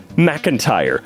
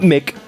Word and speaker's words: McIntyre: Surname McIntyre, not Mick, and no capital I.